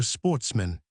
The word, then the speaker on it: sportsmen: good family, who were sportsmen, a French word pronounced with the accent on the men.